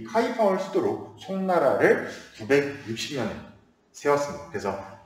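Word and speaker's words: 开封: 그래서 송나라, 한자식 표현으로 개봉이라고 하는데 이제 중국어로 발음을 하다 보니까 카이펑이라 발음하는데, 이 카이펑을 수도로 송나라를 960년에 세웠습니다.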